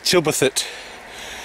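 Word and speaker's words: Tilberthwaite: So, it's pronounced Tilberthet. You don't pronounce a W, believe it or not.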